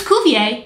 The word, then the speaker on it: Cuvier: known that ever since cuvier or however you pronounce that no it's kuvier you got that right